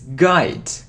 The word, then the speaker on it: guide: G no okay get so it isn't G it's guide guide okay let's look at